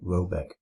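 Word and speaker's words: Råbäck: The manor house or herrgård in question is to be called Roback, pronounced something like Robeck, though that is not its name.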